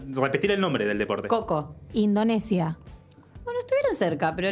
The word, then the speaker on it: Kho Kho: El deporte del que vamos a hablar hoy es Coco, que voy a decirles cómo se escribe.